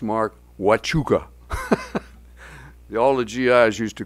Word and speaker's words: Huachuca: And that happened to be when I was chief of staff, and it's pronounced, Mark, Huachuca.